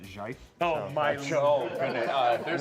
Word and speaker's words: GIF: I pronounce it Jife.